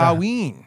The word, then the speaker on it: Samhain: He finds clues, and I it's spelled Sam Hain. I know that's not how you pronounce it, but It's I don't know. Samhain.